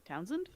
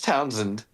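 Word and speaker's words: Townsend: Townzand. There you go. It's Townzand. Oh, you do not say the E at all. It is Townzand.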